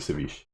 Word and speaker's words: ceviche: I think I'm going with the ceviche. Ceviche? Okay. There's no accent on the end.